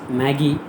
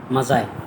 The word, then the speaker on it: Magi: Many people may feel that it is Maggie, but the exact pronunciation of this word is Mazai.